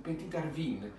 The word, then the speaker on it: Petite Arvine: anno lascino piccolo quindi pt petina bear vino harbin secondo di come lo volete pronunciare se alla francese o se un po più alla valdostani italiana bene questo è un